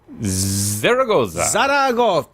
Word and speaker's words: Zaragoza: Is it Zaragoza? How is it pronounced? Zaragoza.